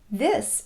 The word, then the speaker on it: this: This is an interesting book. Notice, by the way, that the S in this is pronounced S, and the S in is pronounced Z. This is.